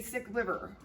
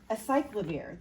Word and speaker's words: acyclovir: a drug, but it sounded like a sick liver. A sick liver, a sick liver. I think you mean acyclovir, the antiviral medication.